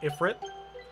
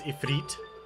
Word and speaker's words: Ifrit: always for the longest time I called him Ifrit until I actually learned that it's a feat and even though I know how to pronounce